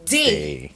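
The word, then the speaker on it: dé: So this word here, if D is pronounced as D and this E is pronounced as A, this word would be day, right?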